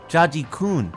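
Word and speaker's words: ジャッジくん: Judd's Japanese name is also Jaji-kun, which when pronounced sounds like judge.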